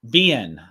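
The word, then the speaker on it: Biehn: AKA The Arrow yeah how do you say his name is it B it's BN bien yeah I bet Michael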